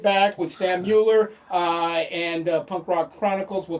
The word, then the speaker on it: Stan Mueller: one guy I do know how to pronounce. His name is Stan Mueller, That's right.